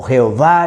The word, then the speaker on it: Jehová: Entre los estudios bíblicos existe un fuerte acuerdo que la pronunciación original del tetragramatón fue Yahweh o Yahweh o Jehová, le decimos nosotros aquí en la manera hispana.